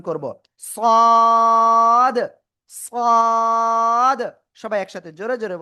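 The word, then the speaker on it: صاد: লাগিয়ে মোটা আওয়াজে আমরা চার আলিফটা নিয়ে উচ্চারণ করব। সদ সদ সবাই একসাথে জোরে জোরে বলেন সদ ওকে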